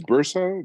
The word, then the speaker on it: Burza: with uh Noah's archivist it's it's Bursa like kind of like Ursa but with a b as a boy yeah yeah Bruiser got